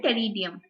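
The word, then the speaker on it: Pteridium: वो रहेंगे सालोट एंड टेरियम प फ सालोम और प फर विथ साइलेंट प इट्स टेरियम तो सालोम एंड टेरियम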